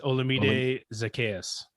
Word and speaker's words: Olamide Zacchaeus: Yes, Olamide Zacchaeus.